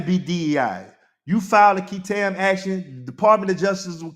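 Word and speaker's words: qui tam: And if anybody know what a KAM is, KAM is spelled Q UI T A M is a legal action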